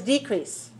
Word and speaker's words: decrease: same spelling all right they have the same spelling but they have a different stress so the noun is decreased can you hear it difference okay so decrease is to one to one that's a noun and then decrease to two is a is the verb we have a lot